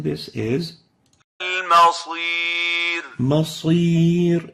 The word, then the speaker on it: المصير: This is not Masir. Masir is a totally different word with a different meaning. This is Al-Masir. So the right way of pronouncing this is المصير Masir, not Masir.